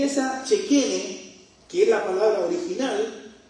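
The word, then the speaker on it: Shekhinah: Hay una palabra que en el idioma antiguo hebreo se usa y se se pronuncia eh chequene. Nosotros la conocemos como la chequina, pero la chequina es la la chequina es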